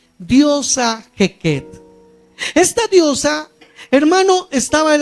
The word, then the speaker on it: Heket: y ese Dios rana se llamaba la diosa hequet se escribe h e k e t diosa hequet esta diosa hermano estaba de la siguiente manera